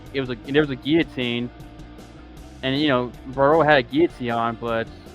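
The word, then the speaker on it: Barriault: But it seemed like he was very desperate to get a takedown, and Marc Andre wait, how you say his last name again? Barreau. Barreau or Boret. But no, Barreau.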